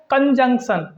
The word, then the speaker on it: conjunction: कि इसका सही उच्चारण कंजंक्शन इसको हम कंजंक्शन बोलते हैं ठीक है इसको हम कंजक्शन नहीं बोलते कंजंक्शन इसका सही उच्चारण है सही प्रोनंसिएशन है अब इसकी हिंदी की